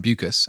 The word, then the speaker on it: Beukes: it's pretty exciting it's really exciting so Lauren buas and that is how you pronounce her name cuz she did send me